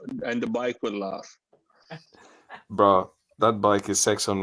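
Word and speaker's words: Brough: for for you because it's called bro Superior ss100 I've seen this bike in person it's more beautiful than the pictures b r o u g h BR R there you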